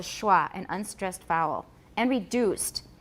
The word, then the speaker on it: schwa: a chi that's why we've got the sch spelling that's the sch so we got it from hebrew through german and it's called a schwa an unstressed vowel and